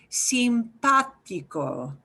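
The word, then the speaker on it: simpático: and multiple syllables and you see an accent mark so you're going to hit the pot syllable harder than the others so listen real carefully with this long word simpatico sympatico you are nice sympathico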